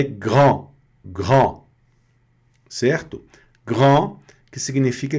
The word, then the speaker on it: grand: Então, aqui nós estamos na pronúncia grand. Grand. Tá? Bem aqui na garganta, o R não tem, não tem outra forma. O R é sempre na garganta e a tradução grande.